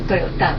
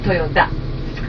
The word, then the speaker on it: Toyota: And does anybody know the correct pronunciation of the family name is not Toyota but Toyota.